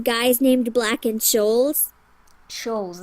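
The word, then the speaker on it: Scholes: Shoals, that's how you pronounce it.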